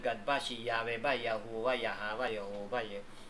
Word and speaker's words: Yahu: yung yado na YHW ang tamang pag-pronounce ay Yahu.